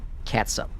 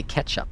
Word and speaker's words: catsup: Catsup. I hear it pronounced all the time wrong. And they say ketchup. It is not ketchup. It's catsup. You know, like a cat.